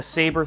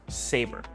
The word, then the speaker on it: Xaber: This is Segway's first serious electric dirt bike called the Saber 300, pronounced Saber.